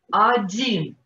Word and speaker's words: один: Один, nicht Один, Один. Один ist ein Wikingergott.